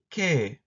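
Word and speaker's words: 게: They are romanized as e and a, respectively, but there's no pronunciation difference when you're speaking. Historically, they were pronounced differently, but if you ask a modern Korean, they will not make a distinction.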